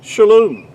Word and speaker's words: shalom: It's pronounced, really, to be more accurately, would be shalom.